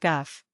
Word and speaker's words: gowf: forward if desired may be pronounced guff.